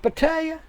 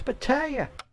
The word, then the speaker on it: Pattaya: Everybody knows it's pronounced Pattaya. You always be saying it wrong. Get with the program, man. It's Pattaya.